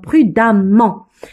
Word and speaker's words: prudemment: Pourquoi? Parce qu'il y a deux M. Le E devant deuxième ça se prononce A. Donc prudemment.